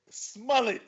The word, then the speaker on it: Smollett: into music news Jesse smelly smelly rhymes with mullet aka Jamal Lyons from